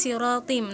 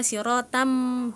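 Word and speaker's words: صِرَاطٍ: Nah, itu ada salah penyebutan ee yang sawian alat siratim harusnya kan siratim. Nah, tapi e cantika membacanya sawian ala siratam mustaqim gitu. Nah, itu ada kesalahan hurufnya di situ.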